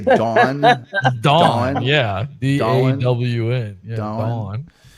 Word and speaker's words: Dawn: You don't hear it, Tom, but you pronounce Dawn as Don, like a guy's name. Dawn.